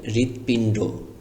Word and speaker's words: হৃদপিণ্ড: পিন পিন ড pinned লেখা আছে পিনড কিন্তু উচ্চারণ করতে হবে পিনড ওকার দিয়ে ডর সাথে একটি ওকার লাগিয়ে দিবেন তাহলে শব্দটির সম্পূর্ণ উচ্চারণ হবে হৃদপিণ্ড হৃদপিণ্ড মানে কি হৃদপিণ্ড